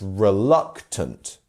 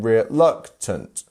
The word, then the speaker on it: reluctant: the dot down here, which means the luck part is our stress syllable. So it's reluctant. Can you see that? We're almost going reluctant. And that is how almost the wave of syllables go in this sense. So yeah, our middle one is our stressed syllable.